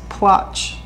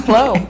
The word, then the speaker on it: Plotch: I always thought it was Plotch. Nope, it's Plow. It's spelled Plotch.